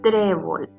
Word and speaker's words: trébol: ejemplo que tenemos es trébol trébol es una palabra grave porque su sílaba tónica es la penúltima trébol no es trébol